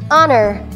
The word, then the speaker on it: honor: beginning of a word honor honor first syllable is ah and the second syllable is nur honor honor karangalan in